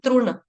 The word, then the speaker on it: तृण: देह नाम पकर्षन तरुण तरुण नहीं बोलेंगे इसको बोलेंगे तण रू गलती से यहां पे तरुण हो सकता है लेकिन ये क्या बोलेंगे तण क्योंकि त के पांव में रू है रूप या फिर आप बोले बोले इसको तण या तण बोलो या तण बोलो लेकिन तरुण नहीं बोलना तरुण जो लड़कों का